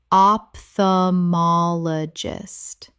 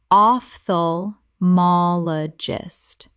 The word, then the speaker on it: ophthalmologist: Common mispronunciation, opthamologist. Correct pronunciation, ophthalmologist. The OPH makes an F sound. Five syllables.